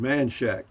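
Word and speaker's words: Manchaca: live right in between play spell manchaka but locals always yeah but locals have always called it manshack yeah anyway i love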